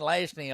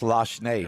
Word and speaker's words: Lashney: So I've been saying Lashney all day. That's a Rapides Parish pronunciation. Yes, it's Lashney.